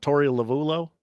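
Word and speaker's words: Torey Lovullo: of Sil questions and look how do you pronounce this uh manager's name for the Diamondbacks to Tori lavulo that's right okay he is doubled down on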